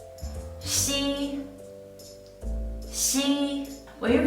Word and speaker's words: xi: But when you pronounce xi, you don't need to block the air during the whole process.